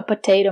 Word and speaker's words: potato: potatoes I have a potato masher potato the second T is pronounced as the fast D potato potato potato masher